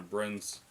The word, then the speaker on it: Breen: it yeah well well it's b-r-e and so it's just like green i guess so it's bringing